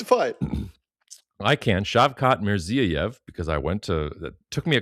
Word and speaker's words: Shavkat Mirziyoyev: President Trump could not pronounce their leader's name, but they're on there. Nobody can. It's fine. I can. Shavkat Mirziyoyev, because it took me a couple days to